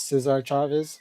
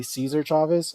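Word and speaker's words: César Chávez: Cesar Chavez And also, the I think the proper pronunciation for Latinos is Cesar Chavez. I know a lot of people say Cesar Chavez.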